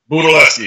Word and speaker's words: Budelewski: We want to welcome right now to Muscle Sport TV, also known as Budelewski. Did I say it right? Budelewski, yes, sir.